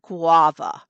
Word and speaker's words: guava: the guava tree and it's pronounced guava it's the supposed to drag out the first part go off hello Ray